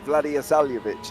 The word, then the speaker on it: Vladislav: That's how you say his name, Vladislav.